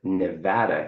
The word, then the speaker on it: Nevada: They pronounce it Nevada here, which I had to get used to saying instead of Nevada.